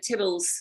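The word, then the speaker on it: Theobalds: um and then they went off to tibbles this is how they pronounce theo bells in those days um and which was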